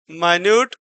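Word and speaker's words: minute: को इंडिकेट कर रहा है, जबकि यहाँ पर माइन्यूट यानी इस छोटी सी समस्या को रिप्रेजेंट कर रहा है। तो दोनों के प्रोनाउंसिएशन क्या हैं, जैसा कि बताया गया कि स्पेलिंग ही केवल सेम है।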